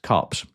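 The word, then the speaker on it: KuPS: And then the last one, if I do pronounce this correctly, I've done my homework on this, and I believe it is actually pronounced Cups.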